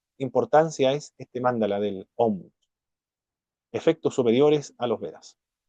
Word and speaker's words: Om: Se debe pronunciar Om con resonancia nasal, que no es sino el propio Brahman, reducido a sonido.